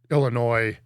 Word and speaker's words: Illinois: Anyway, so we'll talk more about Illinois and Illinois. I like that he said it right and then intentionally added the S.